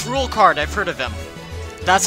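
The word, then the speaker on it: Rouxls Kaard: Oh, it's Rulecard, I've heard of him. That's how you pronounce his name.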